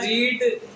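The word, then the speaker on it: read: तो एक चीज बता दूं मैं आपको, ये जो रीड वर्ड है इसकी तीनों फॉर्म्स जो होती है रीड ही होती है, लेकिन जो उच्चारण होता है वो थोड़ा डिफरेंट होता है। फर्स्ट फॉर्म को रीड पढ़ते हैं, सेकंड फॉर्म को रेड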